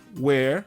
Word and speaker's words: where: O H, você pode não pronunciá-lo. Eu prefiro não pronunciar o H nos WHs, tá? É what, where, how, who and when.